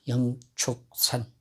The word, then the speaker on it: 영축산: 영취산이라고 쓰고 발음은 영축산이라고 해야 맞습니다. 이제 통도사 영축산.